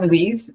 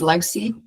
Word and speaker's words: Louise: Yes, I'm Louise. I'm from the complete other side of the world in Scotland. People pronounce my name Louise. Surprisingly, sometimes Lousie. If it's spelling on the computer, I get Lousie a lot, so I do answer to that.